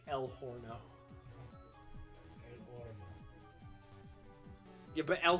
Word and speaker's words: horno: I don't like el horno. El horno. Yeah, but el horno is funnier. You pronounce the H. Yeah, but el horno. Yes, but you don't pronounce the H, babe.